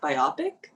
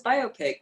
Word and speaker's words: biopic: oh okay okay uh i used to always say biopic and then i didn't realize that it's biopic and there are also a lot of other words that i mispronounce that i've learned over the years but biopic no biopic biopic is one of them how's that